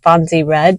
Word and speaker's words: Fonzie Red: I know my channel's name is Fonzie Red. That's how you say it.